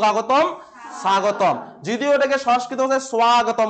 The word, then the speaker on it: স্বাগতম: হয়ে গেল সুযোগ আগতম স্বাগতম যদিও এটাকে সংস্কৃত স্বাগতম উচ্চারণ করতে হয় স্বাগতম ঠিক আছে আমি বলি না সংস্কৃত পাঠের সর্বেশাম